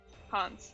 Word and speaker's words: Hans: Hans. That's how you say it.